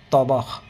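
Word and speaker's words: طبخ: শুধু হা উচ্চারণ করা যাবে না, খ উচ্চারণ করতে হবে।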